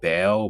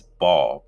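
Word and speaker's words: Baal: to make a correction I said bail but is ball ball is the demon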